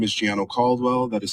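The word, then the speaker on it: Gianno Caldwell: My name is Giano Caldwell. that is spelled G I A N O Cwell C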